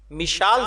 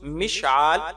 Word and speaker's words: مشعال: زیادہ بہتر ہے۔ سوال: مشال زینب نام رکھنا کیسا ہے؟ جواب: مشال کا درست تلفظ مشعال یعنی عین کے ساتھ اور میم کے زیر کے ساتھ ہے، اور مشعل اور مشعال